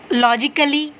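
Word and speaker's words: logically: ICALLY, okay, यहाँ पर ना ए साइलेंट है। कैसे, यानी कि IC या फिर LL से पहले ए आए तो वो साइलेंट हो जाएगा। लॉजिकली, कली का साउंड आता है, कली।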